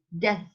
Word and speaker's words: death: natalidad y muerte, rate of birth and death. Birth es B larga y RTH, birth, B-I-R-T-H, birth. And, y de la muerte, death is D-E-A-T-H, death. Se pronuncia death, Death.